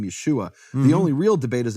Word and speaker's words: Yeshua: there's no and there's there's no other way to pronounce it Yeshua Yeshua it's written right there with the vowels and I am the